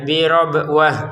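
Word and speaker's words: بربوة: Nah, huruf tan-nya terbacanya ha karena berhenti nanti mau dilanjutkan menjadi huruf ta lagi.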